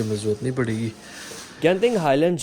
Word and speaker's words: Genting: Video में मैं इसे जेंटिंग बोलूंगा, लेकिन actual pronunciation of this place is गेंटिंग highlands.